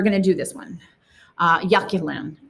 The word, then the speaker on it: Yaxchilan: Yaxchilan, like YA, like if you did it phonetically, Yaxchilan. YA, and then KEY, like a key, and then LAN, Yaxchilan. Okay.